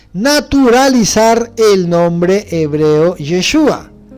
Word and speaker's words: Yeshua: hebreo que dice yeshua a la derecha dice sonido que se pronuncia así Yes yeshua su equivalencia en griego